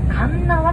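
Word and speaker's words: 鉄輪: 輪と書きまして、神縄と読みます。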